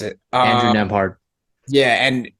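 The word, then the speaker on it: Nembhard: Yeah, Nemhard, That's how you pronounce it. Andrew Nemhard.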